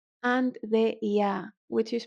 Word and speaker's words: ي: And the ya, which is written like an e, a double e, that may also be